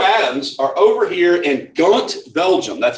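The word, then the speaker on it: Ghent: so Monroe and Adams are over here in gaunt Belgium that's how you pronounce that gaunt they're in Kant Belgium and they have been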